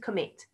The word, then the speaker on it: commit: commit commit two syllables so all of these root words have got two syllables you can have a practice of that if you like and we stress the last syllable when we're reading that word which is really hard